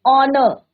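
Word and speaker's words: honour: तो एच क्या है यहाँ पे, साइलेंट है। Similarly an ऑनर, H is your silent.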